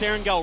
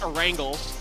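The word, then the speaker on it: Erangel: two games of arangell which i pronounce erin gill wright nobody else does it is not a wrangle it's erengel get it right as we move on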